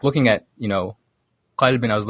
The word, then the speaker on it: Qalb: There's a programmer in Brooklyn released an Arabic programming language called Qalb, or pronounced in his dialect is called Alb.